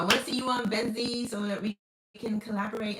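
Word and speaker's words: Venxii: So, I pronounce it Benzeed, B E N Z E E, but the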